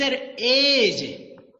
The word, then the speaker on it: edge: इट्स एज, EDGE एज। डी का sound है ही नहीं, डी इज साइलेंट लेटर।